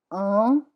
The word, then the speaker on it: un: Un is one, it's nasal.